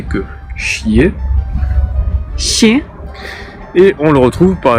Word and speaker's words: Щ: Et nous avons le chier. Ще. Donc pour le coup, moi, la meilleure façon de le retenir, c'est de penser au verbe chier en français. C'est pas très poli, mais ça permet de bien s'en souvenir. C'est vraiment la même sonorité que chier.